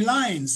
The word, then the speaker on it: Lynes: 1875, James and Mary Lyons, spelled L-Y-N-E-S, pronounced Lyons, named their son, and what else?